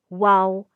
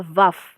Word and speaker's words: Waw: Jadi kalau Ibrani kuno itu tidak mengenal Vav, yang mengenalnya Waw. Ya, tapi kalau Ibrani modern dibacanya bisa Vav. Tapi kalau Ibrani asli itu nggak ada Vav. Ya, mereka nggak kenal Vav. Mereka kenalnya Waw.